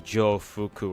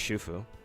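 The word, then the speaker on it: 徐福: properly, it's probably just Shufu. It's pretty her Chinese name seems pretty simple. Because, you know, the Chinese pronounce. Well, you're supposed to pronounce the X in Chinese names with the sh sound, the sh sound.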